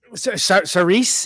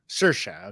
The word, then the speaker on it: Saoirse: Saoirse, is that how you say it? Saoirse.